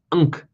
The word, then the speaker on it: Ankh: Ankh was actually pronounced Nkh, N-K-H, spelled N-K-H. The A was silent.